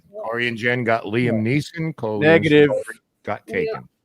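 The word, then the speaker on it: Neeson: and Jen got Liam niss got taken he did not say Liam niss he said Liam neelsen so that does not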